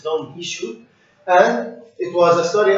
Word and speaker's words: Don Quixote: He just made his famous novel about Don Quixote or Don Quixote, according to the pronunciation of the Spanish, it's Don Quixote.